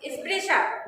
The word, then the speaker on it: स्पृशा: ये वाला जो री पढ़े हो ना, ये इसका ये मात्रा है, इसकी इसलिए री जैसा उच्चारण करते हैं। तो मृदुला, स्पृशा, स्पृशा।